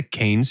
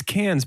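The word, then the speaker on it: Cannes: circle back and check did you say the keynes film festival yeah i always pronounce it wrong it's cans but now i want a chicken festival that's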